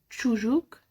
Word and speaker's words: çocuk: Ç çocuk. Ç çocuk. Ç Ç تتنطق زي السي اتش اللي في الانجليش. Ç Ç Ç çocuk طفل.